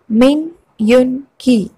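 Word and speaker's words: 민윤기: കിം നം Joon, Kim നം Joon, Kim നം Joon, Kim Sok chin, Kim Sok chin, Kim Sok chin, മിൻ യുൻ കി, മിൻ യുൻ കി, മിൻ യുൻ കി, ചങ് ഹോ സോക്, ചങ് ഹോ സോക്, Chung Ho Sok.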